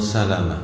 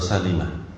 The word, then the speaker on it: Salimah: Abdillah qala berkata aroda Banu Salamah atau Salimah bacanya kasrah. Arod Banu Salimah.